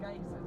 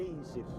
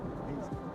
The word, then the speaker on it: Geysir: And they're pronounced geysers, are they? Geysir. We say geyser. Geysir.